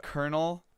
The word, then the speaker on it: colonel: want to note that it was a colonel as as in like the army position as soon as I said popcorn kernels this probably actually wasn't that currently it's pronounced the same so I got it